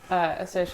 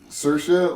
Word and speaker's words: Saoirse: Saoirse, like inertia? Well, like the Irish. Saoirse I Ronan. didn't name her first Saoirse Ronan, but it is pronounced like Saoirse, Same yes.